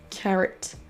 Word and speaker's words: carrot: De même que carotte se prononce carrot.